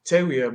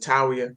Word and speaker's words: Tawiah: yeah, so it's actually pronounced TAWIAH, but we pronounce it TAWIAH.